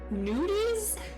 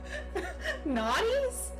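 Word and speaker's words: noughties: Nudies? How do you say that? Nudies? Nudies? Naughties? Like not. Oh, like not. Yeah, not nude.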